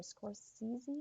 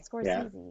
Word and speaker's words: Scorsese: You know, like I just feel like for these Martin Scors I can never pronounce his last name. Scorsese. Martin Scorsese? Yeah. Scorsese, yeah.